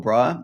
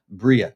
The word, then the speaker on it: Briah: Um, so yeah, it's uh, we're seeing some really interesting stuff here with the old Briar and uh, it's a good chance.